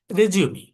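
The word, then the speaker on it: résumé: রেজিউমি এটা একটা ফরাসি শব্দ, রেজিউমি। সেখানে এর উপরে, রেজিউমে RESUME, এর উপরে অ্যাকসেন্ট থাকে, একটি বা দুটি, দুটি অ্যাকসেন্ট থাকে সাধারণত। এই, এটি উচ্চারণের জন্য ব্যবহৃত হয়।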